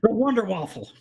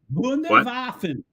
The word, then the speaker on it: Wunderwaffen: The Wonder Waffle. I can't say these German words actually. Wunderwaffen. Wunderwaffen. Wunderwaffen. Not one.